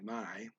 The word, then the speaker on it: may: There is my, M-A-Y, my.